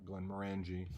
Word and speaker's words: Glenmorangie: the pronunciation also is the emphasis is supposed to be on the second syllable Glenmorangie not Glenmorangie or something else so